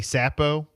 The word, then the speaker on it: Csapo: I'm going to say Sapo, but it's spelled CSAPO.